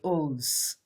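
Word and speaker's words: Eauze: so eos is oz it's pronounced it's spelt e-a-u-z-e but in french we say ooze so if you look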